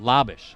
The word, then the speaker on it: Labish: He says he's Jack's brother, and you pronounce it Labish. All right, we apologize. We were told it was Labish and Leto, so it's Leto and Labish. Leto and Labish.